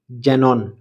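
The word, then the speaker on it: xenon: এক্স জেরক্স জেরক্স এক্স ই এন ও এন জেনন জেনন এক্স যখন গয়জয় sound দিয়ে থাকে সাধারণত যখন এক্স এর পরে একটি জোর দেওয়া ভাওয়েল আসে।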